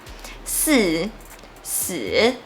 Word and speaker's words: 四: Because Four in Chinese sounds like death. 四、死 so remember to avoid it.